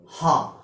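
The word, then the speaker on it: ه: This shape without any diacritical mark is called ha. Its pronunciation in English is H-A-A, ha. It is a light letter, so it can be pronounced easily. There is another letter which is heavy in pronunciation.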